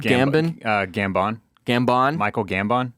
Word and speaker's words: Gambon: dragon in sad news Barrett yes sir Michael gambin g-a-m-b-o-n how would you pronounce that Gambon gambin uh Gambon Gambon Michael Gambon Michael Gambon the